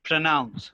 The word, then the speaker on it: pronounce: pronounce. Pronounce. And it is not pro, it's pra.